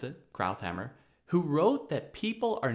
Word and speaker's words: Krauthammer: columnist Charles Krauthammer, I think that's how you pronounce it, Krauthammer, who wrote that people are now coming out of the closet on the word empire.